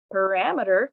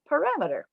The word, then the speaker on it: parameter: the different steps parameter figure out what the what the primary or the correct stress pattern is the second step in this second box is to focus on those unstressed syllables mirror meter the third box shows rammeter and the final box shows putting it all together parameter now i'm going to